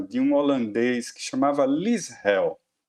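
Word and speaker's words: LISREL: um holandês que chamava Lisell. Você escreve como se fala? Lisell. Eh, L I S R E L. Lisell.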